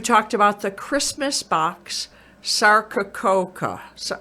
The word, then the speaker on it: Sarcococca: On one of your shows, you talked about the Christmas box Sarcococca. So, how do you say that, Sarcococca?